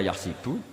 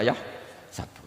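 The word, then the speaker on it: يحسب: Karena dalam qiraat sab'ah ada yang baca yahsibu, qiraat kita baca yahsabu.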